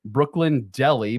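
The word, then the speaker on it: Brooklyn Delhi: is called all right Brooklyn Deli but it's spelled d-e-l-h-i as in New Delhi ghost pepper hot sauce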